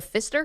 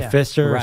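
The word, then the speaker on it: Pfister: The Fister spelled with a P.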